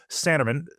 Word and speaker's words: Sanneman: So, today, uh I'm joined by Sandeman. Am I pronouncing it correctly?